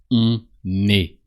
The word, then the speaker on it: on est: On est. So you pronounce the N of on because the following word starts with a vowel.